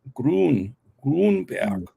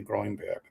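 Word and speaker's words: Gruenberg: it's in German it's hard to say it's pronounced gron grber uh in English I think we say grinberg but it's gr okay he is the head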